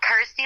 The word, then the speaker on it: Kirsty: that it's you know rhymes with my name and helps people pronounce my name correctly so I'm like cool Kirsty like thirsty ity like thirsty I